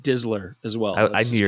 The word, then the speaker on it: DSLR: It's pronounced Dizzler as well.